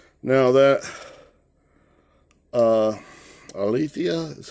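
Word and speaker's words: ἀλήθεια: here but that's all right now that uh alithea is how you pronounce it back in strong's g225 um 225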